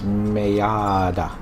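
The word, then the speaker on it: Maat: all right this is mayada you have to say the second syllable long because it's got that double A in there the mark of the hu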